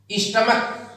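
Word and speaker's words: stomach: यदि किसी नाउन के अंत में सी एच आता है और उसका उच्चारण का होता है तो उसमें एस जोड़कर बहुवचन बनाया जाता है। Such as स्टमच, स्टमक, स्टमक means पेट।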